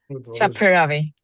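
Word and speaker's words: Saperavi: The resolution is to bundle and to approve both requests by Saparavi. Is that the correct pronunciation, Saparavi? Saparavi. Yeah.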